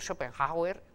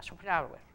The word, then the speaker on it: Schopenhauer: Ya saben, Schopenhauer, pueden ustedes pronunciarlo con una J en el medio, decir Schopenhauer, pero en ese caso, si van a Alemania, poca gente entenderá a quién se refieren, porque la H intercalada apenas se pronuncia, es como una parada, Schopenhauer, ¿vale?